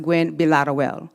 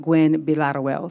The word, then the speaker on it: Gwinn-Villaroel: But it is pronounced Gwinn-Villaroel. So it's actually pronounced Gwinn-Villaroel.